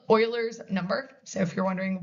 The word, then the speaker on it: Euler: Um but it is called Euler's number, not Euler. Okay? That is Euler. I'm not saying it wrong.